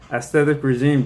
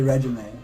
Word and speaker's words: Aesthetic Regime: Aesthetic Regime. Don't get that name wrong. Don't say regimen.